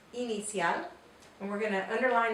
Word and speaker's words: inicial: It looks like the letter I in English, but we want to say E whenever we are speaking Spanish and reading in Spanish. And the word we're going to pronounce is the word for initial. It's inicial.